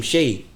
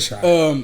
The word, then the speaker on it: Shai: Say his name, Shea. I call him Shea. I call him Shea. Yeah, I call him Shea. You said Shai.